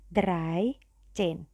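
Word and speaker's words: dreizehn: ya bukan belas tiga jadi yang belakang dulu kita baca Derai Chen kalau 14 ia empatnya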